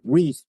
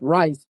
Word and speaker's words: Rice: He pronounced it Reese, but it's usually known as Rice.